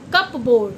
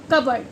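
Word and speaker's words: cupboard: जैसे receipt psychology pneumonia कबर्ड नो कि ना कि कप बोर्ड। कप वर्ड नहीं बोलेंगे ना कप वर्ड बोलेंगे। कप वर्ड भी नहीं बोलते। क्या बोलेंगे? कपर्ड।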